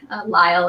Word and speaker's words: Lisle: Lyle is spelled Lisle.